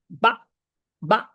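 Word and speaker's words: 爸爸: দেখেন কিভাবে উচ্চারণ হয় রিফিউজ থাকলে এইযে এরকম বা বা এরকম উচ্চারণ হবে ঠিক আছে তাইলে বা এর উচ্চারণটা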